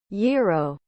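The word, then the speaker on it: gyro: I do it anonymity yo a term for meat cooked on a rotisserie and served in pea bread is pronounced y o that's right feel free to ignore the letter G Dogecoin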